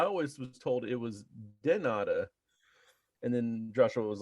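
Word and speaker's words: de nada: And then one day, me and Joshua were talking back and forth, and I said gracias, and he said tanada, and I was like, wait a minute.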